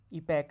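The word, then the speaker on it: epoch: उसके बाद इसका प्रोनाउंसिएशन जो है ना, बताया मैंने आपको, ईपैक है। क्या है, ईपैक। ये ओ का ए आता है प्रोनाउंसिएशन, ईपैक।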